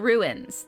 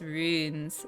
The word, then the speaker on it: runes: asking if ashley's hi it's not ruins that's the important thing no it's runes like prunes that's something you pronounce